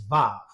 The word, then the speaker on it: vav: is transliterated as W, is actually pronounced as the V sound. So, the third Hebrew letter there in modern pronunciation is vav.